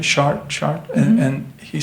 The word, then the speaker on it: Chartres: Am I pronouncing it right? Chartres?